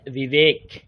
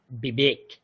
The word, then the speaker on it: বিবেক: এরকম বানান লিখি কারণ উচ্চারণটা হচ্ছে বিবেক নট বিবেক বিবেক উপরের দাঁত নিচের ঠোট উপরের দাঁত নিচের ঠোটে স্পর্শ করে উচ্চারিত হয় দেখুন একটা মন্ত্র পড়ছি।